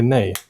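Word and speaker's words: nej: The Swedish word for no is actually nay. Well, then this meme is now, multicultural. Yeah. We spell it differently, but pronounce the same.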